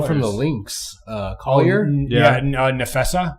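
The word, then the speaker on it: Napheesa: From the Lynx, Collier, Nefessa, I believe is how you say it for Nefessa she Collier.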